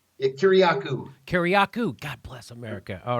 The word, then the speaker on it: Kiriakou: Kiriakou.